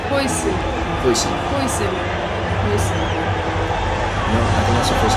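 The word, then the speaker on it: Huijsen: Hoyson.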